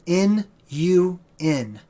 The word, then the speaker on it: Nun: None can also be spelled N-U-N. None, right? Now, N-U-N is properly pronounced Nun, okay?